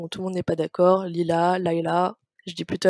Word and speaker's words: Lila: principal qui est là il a encore une prononciation on tournait pas d'accord lila leïla jeudi plutôt à l'anglais 110 ans leïla leïla c'est un personnage incroyable mon personnage préféré